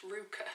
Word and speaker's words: RVCA: training center side note the letters rbca are apparently pronounced ruka who'd have thought it think